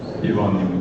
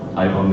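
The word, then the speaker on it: Ivan: is my name is Yvonne you can see it is actually enjoying to pronounce it like this and not like I've on a mission like I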